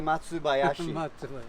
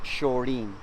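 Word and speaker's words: 松林: This is a Matsubayashi, which literally means pine grove or pine forest, right? Yep. Matsubayashi. So, which it can also be pronounced Shorin.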